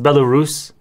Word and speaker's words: Belarus: how it's spelled bella balaras okay it's actually pronounced belarus but it makes more sense now because i